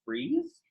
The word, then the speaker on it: frieze: too is called the frieze. Not like freezing, but F-R-I-E-Z-E, but it's pronounced the same.